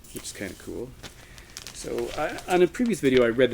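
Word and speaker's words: Suuns: a Canadian band called Sun so some people mispronounce this as Suns but it's pronounced soon this is the witness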